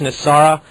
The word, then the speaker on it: NESARA: It's been, in its acronym, it's pronounced N.E.S.A.R.A.